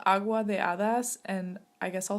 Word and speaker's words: Agua de Hadas: So it's called Agua de Hadas, and I guess I'll spell it.